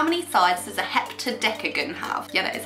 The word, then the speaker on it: heptadecagon: How many sides does a heptadecagon have?